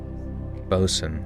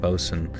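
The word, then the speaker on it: boatswain: Botswain. I always forget this one. A Botswain pronounced Bos. Oh, Bosen. Oh, I'm an idiot. Bosen is a senior crew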